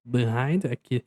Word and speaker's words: behind: Aí aqui nas pronúncias behind, behind a pronúncia começa com a letra I.